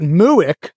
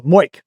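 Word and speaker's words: MOIC: should I get out if you pronounce it muck you'll get laughed at at the lp meeting so moik is the right one I'm pretty sure moik is it yeah uh any other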